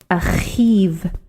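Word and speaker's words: אחיו: It's a difficult thing to pronounce the vav sound after a chet, achiv.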